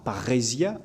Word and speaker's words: parrhésia: Et la parrhésia, c'est c'est un terme grec, hein, qui s'écrit très simplement p a deux r e s i a, parrhésia, avec un un circonflexe puisque c'est un état en grec.